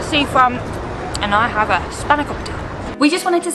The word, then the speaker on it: spanakopita: So this is spanakopita, my best Greek pronunciation, and it is essentially a phyllo pie.